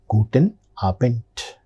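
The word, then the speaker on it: Guten Abend: Ending letter D that is pronounced with the sound guten aent.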